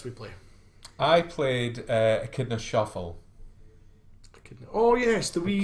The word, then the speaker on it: echidna: Yeah, No, it's an echidna, like a spiny echidna. Yeah. It's basically a hedgehog with a long nose. It's I suppose it's spelled echidna, Yeah. but it's echidna you pronounce it.